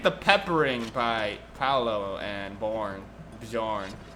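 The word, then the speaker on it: Björn: I think the peppering by Paolo and Bjorn. You don't pronounce the J, I'm assuming. Bjorn, yeah, I think it's Bjorn.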